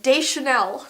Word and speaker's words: Deschanel: Oh, this is Zoe Deschanel. Deschanel now. What's her last name? Oh my gosh. Why don't I know this? What's her name, Zoe? Like, I'm so off on the pronunciation right now. Zoe Deschanel.